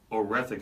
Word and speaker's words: Oretha: And the reason why I know that's the pronunciation is because Madea, who was her mother, that's what she called her. That was how she pronounced it.